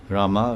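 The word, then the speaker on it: राम: So the M, when you say Ram, M has this halachina, which means it has a silent A. So the word Ram can, if you say Ram, in that M, Ram, Hari Ram, that M includes the A. So although it's Ram, it's only one syllable, Ram. So, but it's actually, with that mark, and it's Ram Ma.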